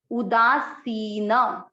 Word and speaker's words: उदासीन: पहला चरण उदासीन। सी की मात्रा को हम बड़ा करेंगे, लंबी मात्रा बड़ी मात्रा है इसलिए इसको उच्चारण में अधिक समय देंगे।